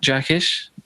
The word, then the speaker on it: Jackisch: and uh this week we're talking with Matt jaish how you doing mate all right yeah I'm